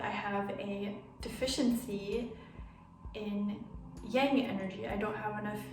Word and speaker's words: yang: behind the yin yang young sorry i pronounced that wrong earlier it's the yin yang symbol yeah i'm gonna give